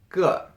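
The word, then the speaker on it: 个: you to this classifier it's pronounced good first if you don't know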